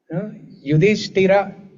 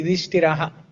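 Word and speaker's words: युधिष्ठिर: Yudhishthira, you don't say Yudhishthiraha.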